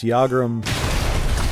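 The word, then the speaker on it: Yagrum: use never really got the pronunciation I missed pronounced it in one video I thought it was Jager and ball Griff clearly I was wrong all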